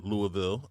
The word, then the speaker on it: Louisville: Louisville. I've never heard it pronounced that way. I've only heard Louisville.